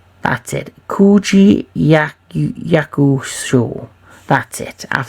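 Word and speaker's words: Koji Yakusho: I'll probably butchered his name like I butchered everyone else's name during this, you know, my top 10. But Koji Yakuzo, that's it. Koji Yakuzo.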